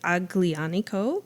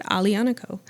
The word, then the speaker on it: Aglianico: So what we are going to taste shortly is Aglianico. If you've ever seen this word spelled out, it looks like Aglianico, but they pronounce it Aglianico.